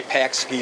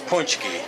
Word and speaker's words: pączki: if you don't know makes a Pax key or something but it's punchki it's punchki there's a little hook under the egg makes the olive sound